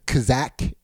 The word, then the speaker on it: Kazakh: Kazakh.